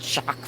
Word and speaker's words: Jacques: something we heard right in French it would be something totally different like Jacques or something they don't even pronounce the last I was like what do you mean there's a whole bunch of letters in there where you get shocked from Jacques I'm like what what happens to the qu and they eat no but in French they don't pronounce those letters I guess so it's